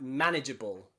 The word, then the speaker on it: manageable: Except in some crazy words where it's at the end, like manageable, okay? Manageable, a little bit different, okay?